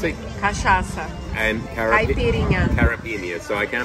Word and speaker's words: caipirinha: Caipirinha. So I can't pronounce it.